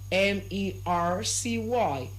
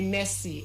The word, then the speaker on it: Mercy: Now we also have another name and the name is spelled as M E R C Y. M E R C Y. And the name is pronounced as what? Mercy. So not you don't say messy.